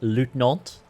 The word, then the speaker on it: lieutenant: situation is precarious I think you'll find it's pronounced liutenant actually but I digress what can I help